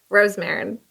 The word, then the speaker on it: Rosemarin: And today with me, I have Astrid Rosemarin. Rosemarin? Yeah, Rosemarin, that works. It works? What is it? How do you pronounce it? Rosemarin.